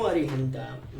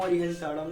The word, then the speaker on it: अरिहंताणं: ना नहीं बोलना है, ड़ा बोलना है। नमो अरिहंताम, नमो अरिहंताणम नहीं, नमो अरिहंताम चलना है।